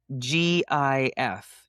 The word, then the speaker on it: GIF: I think GIF is a peanut butter. Exactly. Yes. Yeah. And it doesn't make the G sound. No. Right. It's a hard G.